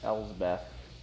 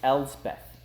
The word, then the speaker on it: Elspeth: last planeswalkers we're gonna go over Little Miss elves Beth oh no it's Elspeth Elspeth and I know that's how you pronounce that oh yeah Elspeth it's Elsbeth it's